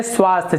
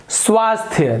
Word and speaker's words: स्वास्थ्य: इसका सही रूप होगा स्वास्थ्य देखिए आधा स और थ दोनों मिला हुआ है य के साथ स्वास्थ्य इस प्रकार से इसका उच्चारण होगा तो ये जो स्वास्थ्य